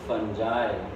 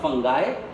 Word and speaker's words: fungi: Fungus, when it's converted into its plural form, it becomes fungi. What? Not fungi. Singular is pronounced as fungus. Right? And its plural is pronounced as fungi.